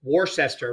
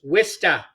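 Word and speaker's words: Worcester: How would you pronounce that? Most people Warsester, right? Not in in New England, it's Wista.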